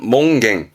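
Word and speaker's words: 門限: 이게 뭔 소릴까 여러분 문의 한이 있다 아니요 발음은 일단 몽 몽 들어 보셨을까 문에 제한이 있는 거죠 그래서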